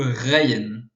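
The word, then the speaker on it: غين: avec un point dessus qui est le ryen qui ressemble pas mal au au R français voilà euh ensuite euh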